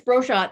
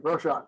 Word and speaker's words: Brochat: And the last person, of course, last two people, Nancy Brochat. Did I pronounce that right? Yep, it's Brochat. It's just phonetic. Okay, Brochat.